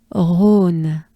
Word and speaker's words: Rhône: Rhône. Just a breath. Aune. Right? And we take a good breath first. Rhône.